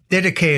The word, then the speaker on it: Didache: pedantic and call it the did but uh deday is the most common pronunciation and it's the teaching of the Lord